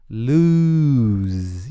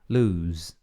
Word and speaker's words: lose: Atente-se a pronúncia de lose, né? Que é perder. Que você não fala lose ou alguma coisa assim. Você fala um lose. E um Z no final. Lose.